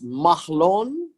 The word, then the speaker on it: Mahlon: sons named mach loan now how do you pronounce this mahlon mahlon actually is the first son and the